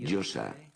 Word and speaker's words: Yosa: como Joel, pero Yosa no se oye nunca, y tampoco se oía en el mundo antiguo. La Yo, la A, que se pronuncia así, Yosa.